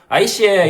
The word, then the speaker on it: 아이씨에: 아마 지읒 발음이 좀 이제 발음하기가 살짝 어려우니까 그냥 다 이응으로 아이씨에 여 좀 널짜 주이소 하면 이제 아저씨 여기 좀 내려주세요 이런 의미.